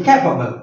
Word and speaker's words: capable: will come before c capable and capability capability the stress will come before B so in that way when we pronounce the word capable then stress will come before c and when we pronounce